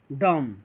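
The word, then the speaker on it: dumb: ये देखिए यहाँ बी के पहले एम आ गया है, बी के पहले जब एम आ गया है तो बी क्या हो जाएगा, साइलेंट हो जाएगा, बी को नहीं पढ़ा जाएगा, ये क्या हो जाएगा डम, क्या हो जाएगा ये डम, ये क्या हो जाएगा, ये हो जाएगा डम, क्या हो जाएगा ये डम हो जाएगा, ये डम्ब नहीं होगा, ये डम हो जाएगा।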